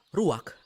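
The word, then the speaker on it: רוּחַ: kehadiran Allah secara pribadi kata dalam bahasa Ibrani adalah ruwak-ruwak benar tenggorokan kita harus benar-benar bersih di akhir pengucapan jadi apa itu hm Ruak dapat merujuk kepada sejumlah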